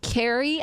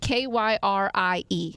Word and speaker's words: Kyrie: She has it K Y R I E. Sure. I would say Kyrie, but she says it's pronounced like K E R I E.